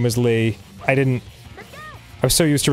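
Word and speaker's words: Leigh: But yes, for anyone who doesn't know, my first name is Lee. L-E-I-G-H. You know, like a lady would spell it.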